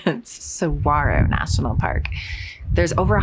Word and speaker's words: Saguaro: I realize I've been saying it wrong that's Saguaro National Park there's over a hundred and seventy-five